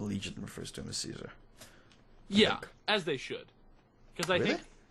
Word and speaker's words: Caesar: Yeah, as they should, because I think pronouncing him by Kaiser legitimizes his faction's culture. Ah, okay. So if they're your enemy, you don't want to legitimize their culture by calling him the proper Latin pronunciation, you know?